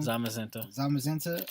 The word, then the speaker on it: Zamazenta: We messed up that pronunciation. Zamazenta.